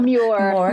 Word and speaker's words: Muir: I'm not sure if I can pronounce his name. Muir? Oh, Muir.